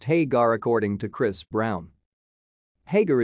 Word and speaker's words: Hägar: The name is pronounced Hägar according to Chris Browne.